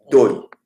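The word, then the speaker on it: două: Bon, la prononciation de dowa là, moi je prononce le plus littéralement possible, hein, c'est pour t'aider à t'habituer à ça, mais couramment comme ça, ils disent do. Ils disent pas dowa. Mais la vraie prononciation, c'est do.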